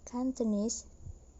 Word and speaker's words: Cantonese: the syllable in personality the other example is in the word cantonese the stem is canton plus suffix is so the word cantonese cantonese the stress moved